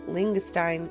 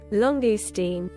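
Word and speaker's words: langoustine: Here is that Prawn and Ling Lingstein. Lingstein. Lingstein. You know what? I'm going to Google it. How to pronounce Langus? Longestine.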